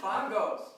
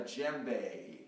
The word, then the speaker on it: djembe: Bongos. Don't say bongos. Everyone says bongo, but it's not a bongo. It's called a djembe, and we're not going to tell you how to spell it either.